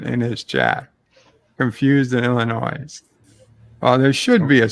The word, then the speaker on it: Illinois: the state wrong it's illinois i said illinois i pronounce it correctly no it's the s is silent it's illinois if the ass is